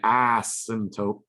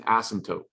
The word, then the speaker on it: asymptote: watch your mouth okay it is not an ass symptom it's spilled kind of weird just like our crazy english language right it's got this weird silent p in there okay it's an asymptote and that asymptote is